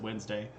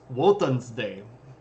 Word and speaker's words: Wednesday: like Wednesday the day of the week we pronounce it Wednesday but it was originally pronounced won's day right or Odin's day and then Thursday is